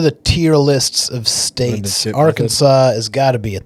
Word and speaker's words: Arkansas: Arkansas has an S at the end of it, but it's not pronounced. I think that's kind of a big feat. Whoa. What an interesting fact about Arkansas.